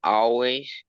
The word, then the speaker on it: always: Esse A de início parece mais um O, always, do que um always, ok?